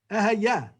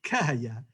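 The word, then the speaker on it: Ehyeh: Ehayeh, or sometimes we pronounce it because it's the name of God, Kehayeh, because we don't want to pronounce God's name.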